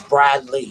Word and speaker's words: Bradley: My name is Bradley. You hear the E in it, and people will spell it Bradly.